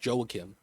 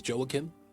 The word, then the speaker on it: Joakim: So, his name, his first name is pronounced Joakim.